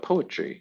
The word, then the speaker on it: poetry: How about poetry, since that's what we're talking about? Poetry. Yeah, and there's the syllable stress, right? Poetry. Poetry. Poetry. Poetry. Little apostrophe before, right? After, excuse me, the first syllable.